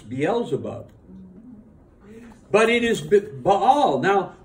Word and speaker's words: Beelzebub: Now, but at least now you know the correct way to pronounce Beelzebub.